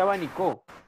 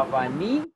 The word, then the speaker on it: abanico: Ah, me gustó ese abanicó. Me estoy echando aire con el abanico. O tampoco dices, me gustó ese abanico. No, abanico. Es como. Es grave.